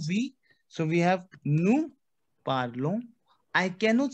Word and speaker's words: parlons: So we have nous parlons. I cannot say parlons. Never. Jamais. No. Never. Nous parlons. Why? Because ON sound is on. Nous parlons.